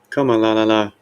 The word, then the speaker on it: Kamala: a bad name Comm la la la comma spelled like the word comma comma la la la yeah remember whenever they pointing out that you're